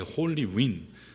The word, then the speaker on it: Holy Wind: 그래서 우리 교회들이 이것에 대해서 반응했던 게 Holy Wind Day에서 Holy Wind 해서 Holy Wind 드 발음을 안 하고 뒤에는 이제 묵음같이 돼 Holy Wind.